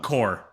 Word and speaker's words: Corps: The Marine Corps. CORPS, the Marine Corps. Is this the right game? Oh, yeah, you're right. No, wait, are you sure? Yeah, Positive. So when you say the Marine Corps, it's spelled with a P?